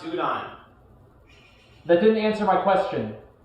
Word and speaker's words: udon: Lumi asks, undone or ramen? The fuck is undone? It's pronounced udon.